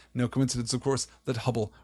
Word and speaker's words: Hubble: coincidence of course that Hubble rhymes with trouble rather pleasing a little